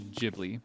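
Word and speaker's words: Ghibli: So you can say gibli, I guess. Yeah, the correct pronunciation in my mind would be jibli because in Japanese it's jihooty.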